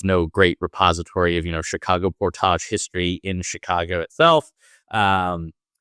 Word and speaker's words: portage: Can you tell us a little bit about portages? Now you're using the more French or Canadian I am, yeah. portage pronunciation.